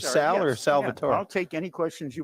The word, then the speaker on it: Salvatore: people All call me Salvatore, but they tend to confuse me with the Latino element, which is pronounced Salvador with a D. Yeah. I'm Salvatore, and but I do prefer to be called Sal.